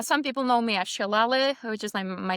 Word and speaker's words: Selale: So yeah uh some people know me as Shalle which is my name and it means in